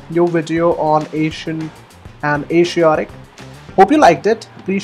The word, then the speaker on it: Asiatic: Now both these words are used with the pronunciation sh and zh equally. In the American English, it's the zh sound as in measure that's used to pronounce it. So it becomes Asian and Asiatic.